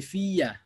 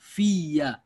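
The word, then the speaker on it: فيّ: ফিয়া হবে, ফিয়া মানে ফির পরে ওই ইয়া যুক্ত হবে, তো ওই দুই ইয়া একত্রিত হইলে একটা মধ্যে ঈদগাম হয়ে যাবে। হ্যাঁ, তখন উচ্চারণ হবে এটার ফিয়া।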